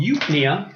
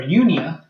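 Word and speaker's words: eupnea: talk about what's called youth Nia or Union some people pronounce the PD and some don't but you always means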